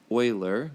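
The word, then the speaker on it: Euler: and don't be confused his name is said Oiler like the oil you put in your car to keep it lubricated um it's the proper way to say his name all right so let's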